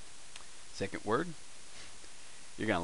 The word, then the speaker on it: ヲ: which ever way but this is technically it's pronounced woah wo you usually see it pronounced oh because he's so often as a particle which usually for Indian